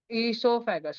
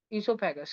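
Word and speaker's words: oesophagus: में हम बोलते हैं इससोफेगस। ओ साइलेंट है। ओ नहीं बोलने का। ओ है स्पेलिंग में पर ओ को उच्चार नहीं करने का। ठीक है? ओ का नाम अपने लेरिंग्स से मत निकालना। इससोफेगस क्योंकि तुम अपने लेरिंग्स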